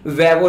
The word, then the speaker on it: Vevo: देखिए 2009 में एक कंपनी थी वेवो, जिसको कुछ लोग वीवो भी बोलते हैं, इसकी स्पेलिंग है VEVO।